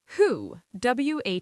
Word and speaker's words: who: Who. Wo. Who. The W is silent.